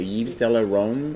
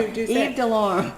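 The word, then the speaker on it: Yves Delorme: How do you say Yves de la Rome? Is that how No, that's not the French way of saying it. How did we say it, Paula? Yves de Lorme.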